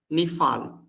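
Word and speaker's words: נפעל: Then we have here nifal. Look here, all the nifal formation will have nun. So nif al. So look here, nif, we don't pronounce this like nik, niktal.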